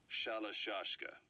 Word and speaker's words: Shalashaska: the name amongst themselves by the time I got to hearing about it pronunciation had wound up as shalashaska so half gulg half